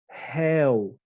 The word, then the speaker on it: réu: Rei, réu. Aqui é fechado e aqui a pronúncia é aberta. Rei, pronúncia fechada, e réu, pronúncia aberta.